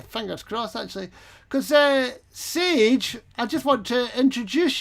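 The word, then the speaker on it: Saije: a i j e but it's pronounced sage where does that come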